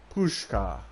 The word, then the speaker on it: Pushka: There was admiration in her voice, and I realized that the word sounded like the rustle of leaves, like the wind. Pushka. I was right. I was fucking saying it right.